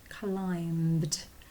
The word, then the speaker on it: climbed: this word before that there's a silent a sneaky silent letter in there it's a b climbed that's a tricky word